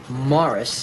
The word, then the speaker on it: Maurice: how do you do I noticed said that although you pronounce your name Morris that it's spelled as if it would be pronounced Maurice please don't turn this